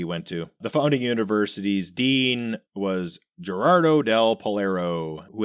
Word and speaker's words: Milei: The double L is a Y sound.